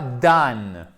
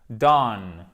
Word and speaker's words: dawn: Et attention, ce n'est pas dan. Parce que le W, oui, j'ai oublié de vous le dire, vous l'avez peut-être déjà compris, ne se prononce pas. C'est pas Dan. Non, c'est pas Dan, c'est Don. C'est entre le A et le O, ok? Don. Mais c'est pas down et c'est pas done.